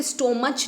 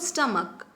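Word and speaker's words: stomach: स्टमक की spelling है आप इसे स्टोर मच नहीं बोलते हो आप इसे बोलते स्टमक राइट इसकी भी ऐड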